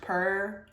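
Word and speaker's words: pu-erh: But it's pronounced puer puer tea.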